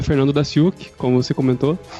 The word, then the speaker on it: Daciuk: meu nome é Fernando daciuk como você comentou a pronúncia do meu sobrenome é da chuca por isso o meu